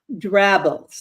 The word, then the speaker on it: drabbles: experience uh with writing drabbles that's g r a BB l s rhymes with scrabbles and how did you